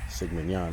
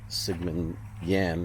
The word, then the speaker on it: Sigmund Jähn: idea of seeking out Sigman Yan really is the right way to pronounce it I believe zman Yan's grave